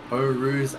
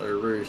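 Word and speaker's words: Eau Rouge: for a ride up o ruse and radio I've mispronounced oh Rouge didn't I nobody heard it it's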